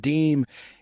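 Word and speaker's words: disme: The first official 5-cent coin issued by the United States was a half-dime, pronounced deem, in 1792.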